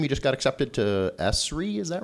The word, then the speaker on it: ESRI: Am I pronouncing that right? ESRI. Well, yeah, ESRI is, I guess, the way they like to pronounce it.